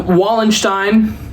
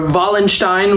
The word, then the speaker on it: Wallenstein: think is volina um wall wallenstein or Valenstein would be the correct pronunciation but wallenstein I'm going to say Valenstein cuz uh saying German words with an American accent sounds wrong to me um this is what